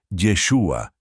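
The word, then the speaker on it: ישוע: hebreo original por ejemplo el nombre de Jesús se pronuncia yeshua en hebreo de manera similar es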